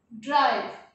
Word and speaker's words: drive: The board गिव ड्राइव, the ending spelling is ive, here also ive. What is the pronunciation of this? Give. And what is the pronunciation of this word? Drive. Yes, give, drive. Here it is giving the sound of give, but here the sound is quite different, drive.